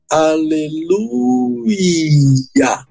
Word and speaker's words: Aleluia: do nome de Deus a melhor pronúncia pra palavra é Aleluia vez de aleluia aleluia aleluia é assim que se pronuncia essa palavra em hebraico agora o que que